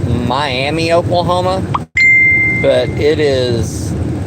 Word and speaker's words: Miami: is a town in this state called that is spelled Miami Oklahoma but it is pronounced miam and it's